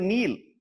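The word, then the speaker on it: kneel: இது நீல், கே கிடையாது, நீல்.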